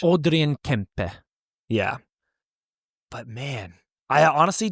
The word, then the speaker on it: Kempe: So that's another one too, where if you don't know he's Swedish, people see that and they're like Adrian Kempe or like. No, they probably say it like that, or maybe Kempe. Yeah, but it's like in Swedish, it is very Swedish. Say it Swedish.